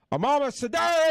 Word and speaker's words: Amamah Sardar: Everybody, Amamah Sadar, everybody!